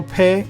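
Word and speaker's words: ף: And again, pe, the final pe is pronounced with the fa sound.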